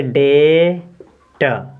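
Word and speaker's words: debt: देखिए ये लिखा है इसमें बी के बाद टी है तो यानी कि बी को साइलेंट कर देंगे तो पढ़ेंगे डे ट डेट मींस होता है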